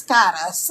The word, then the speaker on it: Cara: Like, for instance, my name is Cara. In Spanish, it's Cara, spelled the same way, C-A-R-A.